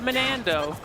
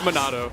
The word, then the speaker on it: Monado: I think you pronounced that wrong. It's actually Monando. Monando. I actually don't know how to pronounce it. I was just trying to say it wrong. It's Monado. Oh, there you go.